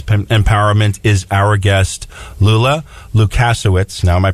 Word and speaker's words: Lukas: Helping provide us with business empowerment is our guest, Lula Lukas. Now, am I pronouncing the last name right?